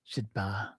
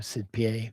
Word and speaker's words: Sidpa: Sidpa or Sidpe. There's different pronunciations.